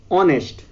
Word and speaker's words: honest: Honest, its spelling also started with H, but H is silent here, so we didn't pronounce it, and we pronunciate it the word as honest.